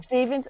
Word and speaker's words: Stephens: Gauff, Sloane Stevens or Stephens, how do you pronounce it, Emmett? Stevens, okay.